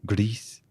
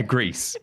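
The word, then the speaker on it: Gris: I think it's pronounced. Well, you have to say it with like an accent. Grease. Like the country. Yeah, Greece.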